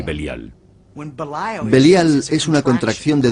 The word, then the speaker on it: Belial: entre ellos Satán y Belial. Belial es una contracción de dos palabras hebreas, Beli y Yaal. Beli yal, que nosotros pronunciamos belial.